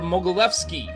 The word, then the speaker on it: Mogilevski: His name is Arthur Mogilevsky.